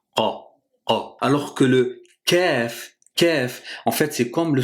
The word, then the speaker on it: ك: Ce qui est important de retenir, c'est que dans la prononciation du Kaf, il faut surtout pas le confondre avec le Qaf, qu'on a vu dans la vidéo précédente.